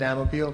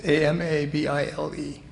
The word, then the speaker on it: Amabile: Actually, for Italian, it is, but I pronounce it Amabile because my dad did that. And it's Amabile.